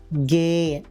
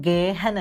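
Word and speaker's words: gehen: കുറെ ഹ വെച്ച് വാക്കുകളുണ്ട് പക്ഷേ ഈ ഹ നമ്മൾ ഉച്ചരിക്കില്ല അത് മിക്കപ്പോഴും സൈലന്റ് ആണ് ഉദാഹരണം ഗേയൻ അതൊരിക്കലും ഗേഹൻ അല്ല ഹ നമ്മൾ അവിടെ ഉച്ചരിക്കില്ല ഹ അവിടെ സൈലന്റ് ആണ് ഗേയൻ ഫ്ലീൻ സേയൻ നമ്മൾ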